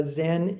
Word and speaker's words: Zen: Uh Zen is is a Japanese pronunciation of a Chinese character which is chan and chan means meditation.